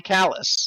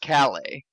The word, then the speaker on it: Calais: thinking something like callus it is traditionally callous yeah what a great name for a place wow you in the uk it's now pronounced cali they've given up on their past they've accepted french sovereignty how dare they in west flemish it's callus oh no you didn't